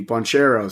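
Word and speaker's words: Banchero: they um they beat him without their rookie buncheros so uh that that's how you pronounce his name but they're uh they're [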